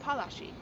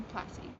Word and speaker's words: Palashi: battle as well, with the original pronunciation being the Battle of Palashi. The name was anglicized over time to Plassey.